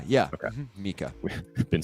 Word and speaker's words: MiCA: pronunciation. It's Mika, Oh, not Micah. yeah. Okay. Mika.